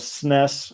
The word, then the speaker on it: SNES: who is your favorite SNES sness as the British say SNES game pro tag